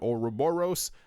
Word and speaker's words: Ouroboros: I thought it was Ouroboros and then Ouroboros. I learned how to say this as Ouroboros, so it will be said as Ouroboros.